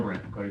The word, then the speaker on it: Garbrandt: I don't want to Yeah, that mispronounce narrows his it name. down. Cody Corbin. Say again. Garbrandt.